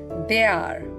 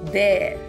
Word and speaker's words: their: We hear many of them using or pronouncing it as they are. It's not they are, it's there.